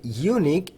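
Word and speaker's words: unique: তো সেক্ষেত্রে এই যে ইউনিক ইউ এন আই কিউ ইউভি এই শব্দটির উচ্চারণ হচ্ছে ইউ।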